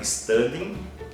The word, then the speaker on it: studying: com ing no final, lembrando que a letra G, ao pronunciar, a gente não pronuncia ela, a gente pronuncia até a letra N, studying, e o complemento, ok?